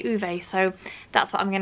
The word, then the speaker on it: Ove: And I know that this is pronounced a number of different ways, but I looked it up and apparently the Swedish say Uve, so that's what I'm going to say.